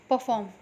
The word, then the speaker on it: perform: See the word here, perform, P-E-R-F-O-R-M, perform, P-E-R-F-O-R-M, perform, not perform. ठीक है, परफॉर्म नहीं, परफॉर्म, आर का हल्का सा साउंड आना चाहिए, परफॉर्म.